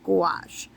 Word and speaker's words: gouache: Why can't I say that word? Gouache. Gouache. Yeah, it's like rhymes with squash.